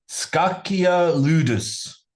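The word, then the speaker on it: Scacchia Ludus: Uh 1 C is K. Maybe C H is definitely K. Skakia Ludus published in 1527 by Heronomous Vida.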